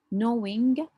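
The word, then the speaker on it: gnawing: mild pin we have knowing the G here is silent knowing pain is like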